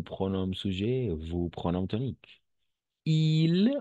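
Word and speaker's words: ils: Il, on va prononcer il. Pourquoi? Parce que le S à la fin est muet.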